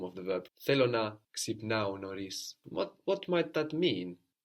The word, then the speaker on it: ξυπνάω: I wake up is ξυπνάω, ξυπνάω. Ξυπνάω. So again, we have a verb ending ao, no, like agapao, milao, ξυπνάω, with its accent on the ending. Which of course means we'll also find ξυπνώ.